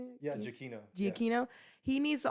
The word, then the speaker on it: Giacchino: And then also Michael Giannaccio, is that how you say it? yeah, Giacchino.